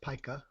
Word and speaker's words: pica: It's pronounced pica.